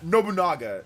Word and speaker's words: Nobunaga: But don't say it fast. Don't say any Japanese names fast. Just pronounce it by every 2 letters, usually 2 or 3 letters at a time.